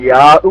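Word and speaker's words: ياء: സ്വീകരിക്കുമാറാകട്ടെ മാലിക് യൗമുദ്ദീൻ കഴിഞ്ഞിട്ട് ഇയ്യാക്ക പറയുമ്പോൾ ഹംസ് കഴിഞ്ഞതിനുശേഷം യാഹ് ഉച്ചരിക്കേണ്ടത് നാവിന്റെ മധ്യത്തിൽ നിന്നാണ് യാന്റെ ഉച്ചാരണം നാവിന്റെ മധ്യവും മേലെണ്ണാക്കും അങ്ങനെയാണ് അതിന്റെ ഉച്ചാരണം അതായത് ജീമ് ഷീന് യാഹ്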